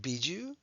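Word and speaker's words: Bijou: does everybody know that this is pronounced biju probably not and the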